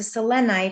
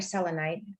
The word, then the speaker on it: selenite: this is super ethereal so selenite or selenite you know depending on how you pronounce it it's supposed to